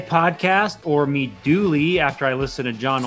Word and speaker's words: Mi Duole: thanks all right all right welcome to the dweller podcast or meet dooley after i listen to john olson numerous times